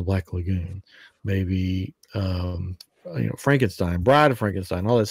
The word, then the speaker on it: Frankenstein: It's Frankenstein. It's not Frankenstein. It's pronounced Frankenstein.